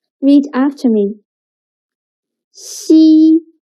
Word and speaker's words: 西: 西 sounds a little bit like the first sound of sheep, but when pronouncing 西, again, your tongue should be more flat and you need to stretch your mouth to two sides. 西.